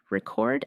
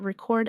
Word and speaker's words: record: Record as a noun, but record as a verb.